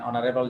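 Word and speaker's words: honourable: যেমন N honest person, তাহলে এখানে এইচটা উচ্চারণ হচ্ছে না, অ এর মতো করে উচ্চারণ হচ্ছে, সে কারণে এখানে কি হবে এন হবে। N honest person, N অনারেবল জাজ, তারপর এন অনারেবল পোস্ট, তাহলে এখানে এইচ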